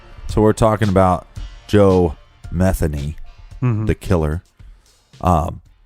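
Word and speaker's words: Metheny: look up some reports they will say Joe methi but it's actually Joe methany yeah we got that from local Baltimore reports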